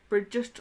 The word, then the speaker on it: Brigid: of me making the bridges cross basically and this is from the goddess Oracle deck we do have her here Bridget or bridg there are two kind of ways you know she's pronounced kind of um and so